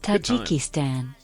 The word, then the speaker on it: Tajikistan: Tajikistan. Is that how it's pronounced?